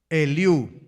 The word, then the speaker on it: Eliú: Con acento en la U. Eliú.